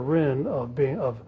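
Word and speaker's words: Ryn: That's Jaffa himself accused Professor Rinn he said he's not just criticizing me and my fellow Straussians, but he's criticizing Jesus Christ himself.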